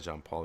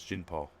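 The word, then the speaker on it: Jean-Paul: this is gin Paul it's not John Paul it's Jean Paul gee dad jumpy jumpy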